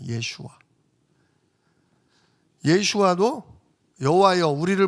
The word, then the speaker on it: 예슈아: 우리는 예수라고 부르는데 원래 정확한 발음은 예슈아입니다. 예슈아. 예슈아도 여호와여 우리를 뭐 하소서?